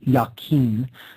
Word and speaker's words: Jachin: The pillar marked with the letter S there on the left is called the Pillar of Jachin, sometimes pronounced Jachin.